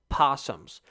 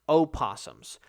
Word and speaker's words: opossums: that are huge are not actually called possums they are spelled and pronounced opossums look that [ __